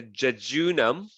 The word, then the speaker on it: jejunum: and then you have the jejunum that's actually how you pronounce it the jejunum is about